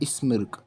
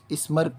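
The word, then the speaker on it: smirk: Professor Gupta स्मिर्क, स्मर्क, इसे स्मर्क pronounce होता है, इट इज़ स्मर्क।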